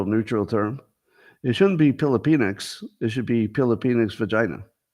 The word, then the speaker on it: Filipinx: that be an all-black commencement or an all Filipinx, which I'm told is the gender-neutral term for Filipinos. So I'm pretty sure it's spelled with a P, not a PH, Filipinx.